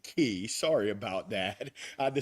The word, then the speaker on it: Quay: Harbor, the Circular Quay, actually they pronounce it key.